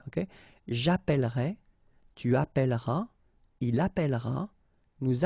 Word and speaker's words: appellerai: And it will affect all the forms, so remember, you double the L, so it does open the sound of this E, and you get E, okay? J'appellerai, tu appelleras, il appellera, nous appellerons, vous appellerez, ils appelleront.